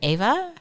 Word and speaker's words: Eva: Is she Ava or Eva? I think she's an Ava. I think she's Ava. It's spelled EVA.